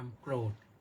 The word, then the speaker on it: โกรธ: โกทะ โกทะ ก็ ความ โกรธ แต่ ที่ เรา เรา ออก เสียง ว่า โกรธ น่ะ มัน มี รือ มา ด้วย ภาษา กลาง พูด ไม่ ได้ หรอก เ่อ โกรธ พูด ไม่ ได้ ได้ แต่ โกรธ โกรธ โ คน มัก โกรธ